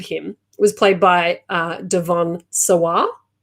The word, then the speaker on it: Devon Sawa: was played by uh devon sawah how do you say it i always thought it was devin devin sawa devons or however you